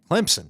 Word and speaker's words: Clemson: Didn't they just upset who they Clemson? There you go. Clemson. Clemson. Clemson. Clemson. There's a P in there even though you don't see it.